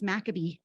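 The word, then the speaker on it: McAbee: Sorry, I always say that name wrong. It's Maccabee. The Maccabee fossil beds are a 50-million-year-old site of incredibly rich Eocene fossils.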